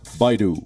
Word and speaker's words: Baidu: bi do bi do the correct pronunciation is Baidu Adobe yeah I do